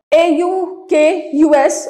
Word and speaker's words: AUKUS: Recently, AUK, US, or if we want to pronounce it, AUKUS, led by US PM Joe Biden has been launched.